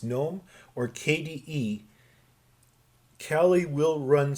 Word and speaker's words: GNOME: if you choose gnome which is how you say that it's not gnome it's gnome or kde kali will